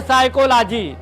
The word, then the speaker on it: psychology: एक है साइकोलॉजी। तो देखो साइकोलॉजी कहां से भैया? एस से स्टार्ट हुआ। तो यहां पर क्या है? साइकोलॉजी में पी साइलेंट है।